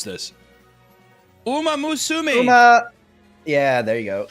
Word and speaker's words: Uma Musume: How do you pronounce this? Uma Musume.